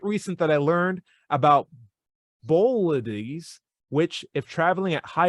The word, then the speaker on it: bolides: that i learned about bolitis which if traveling at high enough speed will not how do you pronounce that bolides okay which is o b-o-l-i-d-e-s okay thanks bo lights which if traveling at